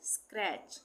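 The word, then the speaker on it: scratch: एक साथ आएगा तो वहां पे टी का उच्चारण नहीं होगा ऑफेन इसी तरह से स्क्रैच स्क्रैच में टी सी एच एक साथ आ रहा है।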